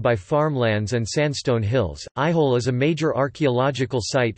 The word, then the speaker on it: Aihole: Aihole, pronounced I-ho-a, also referred to as